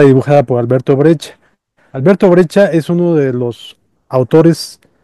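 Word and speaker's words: Breccia: Alberto Brecha es uno de los autores plásticos más extraordinarios del siglo pasado.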